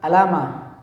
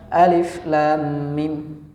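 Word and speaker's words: الم: Bacanya bukan alama ya, tapi dibacanya cara membaca hurufnya. Ini kan ada huruf alif, ada huruf lam, ada huruf mim. Maka kita bacanya seperti itu. Alif lam mim.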